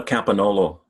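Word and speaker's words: Campagnolo: There was Iona Campagnola. Is that how I pronounce it? Iona Campanolo.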